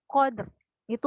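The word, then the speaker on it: القدر: Contoh, inna anzalnahu fi lailatul qadri wa ma adara. Ya kan? Jadi kita nggak bacanya inna anzalnahu fi lailatul qadr wa ma, itu salah.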